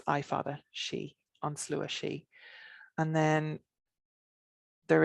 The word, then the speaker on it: sidhe: for some reason um s-i-d-h-e would be my usual spelling of she but again they're all pronounced the same way so ans lewis she